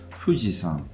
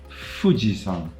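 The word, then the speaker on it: Fuji-san: if you take fujizan fujisan which is the highest mountain in Japan you've probably heard of it then that is a good example of the bilabial fricative fujisan fujisan not fujisan right if you listen to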